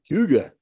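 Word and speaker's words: Hygge: Huga? Yeah, you got it. Huga.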